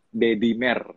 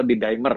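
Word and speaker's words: D-dimer: Itulah disebut dengan dedimer atau didimer bacanya sebenarnya.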